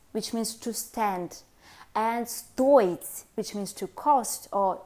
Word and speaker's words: стоить: For the present tense forms of стоить, the stress goes on the first syllable.